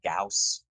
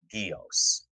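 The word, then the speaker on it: Gyaos: They call him Gauss in like the American dubs, as we see on MST3K, and the Japanese cuts refer to him as Gios. What should we go with? Gios?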